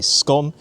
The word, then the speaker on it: scone: I personally say scone, it rhymes with gone, but the pronunciation will depend on region.